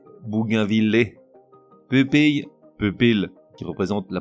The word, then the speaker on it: bougainvillier: prononciation suivi de la bonne reblochon reblochon bougainvillier Bougainville qui représente la prononciation la plus correcte mais aujourd'hui rarement usitée